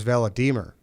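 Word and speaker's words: Volodymyr: the dark and uh his name was vela diemer and uh it's spelt vladimir but that's just how they pronounce it yeah well it's act they spell it differently too v-o-l-o d-y-n-y-r yeah that's the ukrainian version okay that's great i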